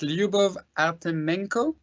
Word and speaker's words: Lyubov Artemenko: You will forgive me if I don't pronounce the name of the CEO correctly, but it's Lyubov Artemenko, CEO of GoToYou. Lyubov, are you there? Yes, correct. Thank you. Was my pronunciation more or less correct?